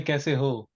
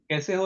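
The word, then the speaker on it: कैसे हो: We usually say kaise ho. Kaise ho is wrong. It's actually kaise ho. The Bihari people say it correctly.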